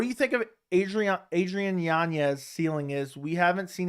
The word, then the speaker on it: Yanez: I like Yanez a lot. That's how you pronounce his last name.